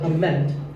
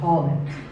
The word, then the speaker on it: comment: Now, whether you use this word as a noun or as a verb, the first syllable is always com. So it's never a comment, it's a comment.